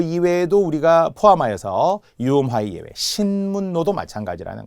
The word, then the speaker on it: 신문로: 뭐 이런 거 있듯이 신문노 이렇게 그 길 이름인데요 그래서 신문 플러스 로가 만나서 신로가 됩니다 그러니까 이제 니은니은이라서 그대로 신문의 니은 노도 니은을 쓰게 되는 거죠 발음을 잘못하면 신물로 L 그러면 안 된다는 거예 유화의 예외 신문